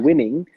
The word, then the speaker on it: von Winning: old family name is von Winning. And most people it's totally fine to pronounce it English and say winning.